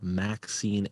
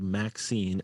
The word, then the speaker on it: MXene: so it says here, it says ultra thin spray applied Maxine antennas. It's spelled MXENE.